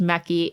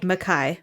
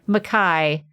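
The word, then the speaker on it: Mekhi: somebody said that apparently tracy said it's not pronounced meki it's pronounced like makai makai it's like makai pfeiffer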